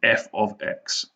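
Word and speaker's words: f(x): Right, it's pronounced, and you don't say f bracket x bracket equals 3x plus 1. It means f of x.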